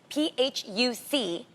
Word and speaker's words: Phuc: So C at the end of Vietnamese words is P.